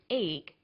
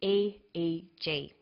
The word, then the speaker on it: EEG: g that's an abbreviation we don't pronounce it eek we say aeg aeg stands for